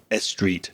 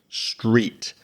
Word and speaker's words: street: Now, if you're a Spanish speaker, you might be very tempted to put a little e sound in front of those two words. So, you might say estop or a street. No, it's just stop and street.